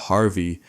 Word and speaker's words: Harve: Some outlets spell it Harvey, but it's Harve.